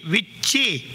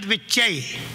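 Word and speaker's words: विच्चे: The proper mantra is Aim Hrim Klim Chamundai Vichye, not Vichyai.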